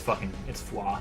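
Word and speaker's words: Foie: It's foi. It's French.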